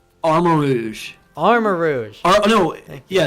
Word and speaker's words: Armarouge: the other one's name armor rouge armor Rouge no yeah it's armor Rouge not armor Rogue armor Rouge yes Rouge like the color yep oh people did